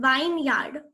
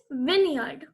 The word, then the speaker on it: vineyard: The next word is vineyard. It is not vineyard. It is vineyard.